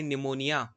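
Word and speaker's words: pneumonia: पीछे हो जाता है निमोनिया बताया कि निमोनिया में पीस साइलेंट होता है ब्यूरो न मेनिया और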